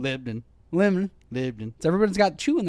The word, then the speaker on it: Lebanon: Everybody forgets there's actual vowels. Lebanon. Lebanon.